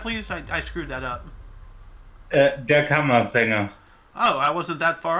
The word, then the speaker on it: Der Kammersänger: Frank Wedekind's play Der Kammerschänger premiered in Berlin. Can you pronounce that, please? I screwed that up. Der Kammersänger.